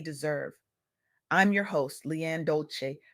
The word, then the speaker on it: Dolce: I'm your host, LeAnne Dolce, pronounced Dole-say, like sweet softness whispered in French.